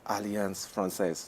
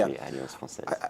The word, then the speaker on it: Alliance Française: Please say it right. It's Alliance Française. Is that correct? Exactly, Alliance Française.